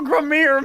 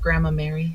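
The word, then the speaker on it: Gramarye: You're a wonderful Gramir magician. You should be proud of yourself. It's actually... It's pronounced Grandma Mary.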